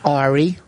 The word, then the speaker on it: Ari: Well, how do you say it? Airy? He used to say, Ari. yes. He used to say Airy. That's a non-Jewish way to say it.